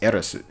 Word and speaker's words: Aerith: in the Japanese version, her name is spelled Aerith, but it's pronounced Erisu. And to make it easier for the Western audience, they decided just to change her name directly to Eris, you know, to make the pronunciation sound the same.